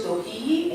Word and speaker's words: dohi: You say, the word is dohi, and you say it like this.